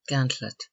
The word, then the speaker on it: gantlet: effect running the gantlet C Gant Lop pronounced gantlet to run out a